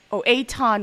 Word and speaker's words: Aton: Aton rhymes with Akon, not with Akon.